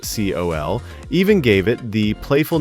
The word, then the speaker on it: CEOL: The name CEOL, pronounced COL, even gave it the playful nickname Kiss from a Rose.